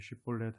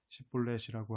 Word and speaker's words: 쉿볼렛: 그러다가 강을 건너 도망치려는 사람이 있으면 당신은 에브라임 사람이냐 라고 물어보아 그가 아니요 하고 대답하면 그에게 쉿볼렛 하고 발음해 보라고 했다. 에브라임 사람들이 제대로 발음을 내지 못하여 십볼렛이라고 하면 그를 붙잡아 요단 나루터에서 죽였다.